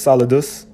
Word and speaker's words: solidus: a latin word you see here which is pronounced solidus all right which is a name of a